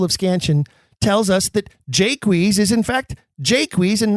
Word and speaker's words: Jaques: If he doesn't use 2 syllables, Jaques, it doesn't complete the 10-beat line.